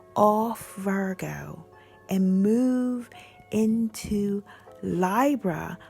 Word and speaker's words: Libra: Virgo and move into lie bruh which is the correct way to say it because it comes from the word library library which we use library so we should might as well say lie bruh but you can say